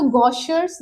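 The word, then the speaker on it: Gaucher: ठीक है, तो आप इसे या तो गॉशर्स डिजीज बोल सकते हैं या फिर आप इसे गॉशे बोल सकते हैं। ठीक है, गॉशेज डिजीज बोल सकते हैं। ठीक है, तो आपको अगर इजीली प्रोनाउंस करना है तो आप ऐसे प्रोनाउंस कर सकते हो।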